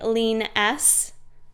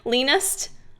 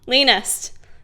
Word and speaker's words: leanest: when I'm not at my leanness my leaness leaness how do you say that leanest leanest there you go um although I will